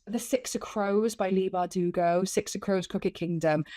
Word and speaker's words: Leigh Bardugo: Leigh Bardugo, yeah.